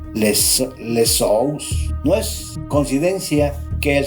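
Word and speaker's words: Ἰησοῦς: Este es el mismo nombre que en griego se traduce como Jesús y se pronuncia lesous.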